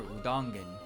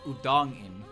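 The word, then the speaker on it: Udongein: You do not pronounce Udongen as Udongen. You pronounce it as Udong, and then an apostrophe in. And I'm pretty sure you don't pronounce the e, so it's Udongin, right?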